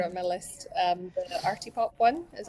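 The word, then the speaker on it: Artipoppe: I love them on my list um the Arty pop one is how you say it oh yes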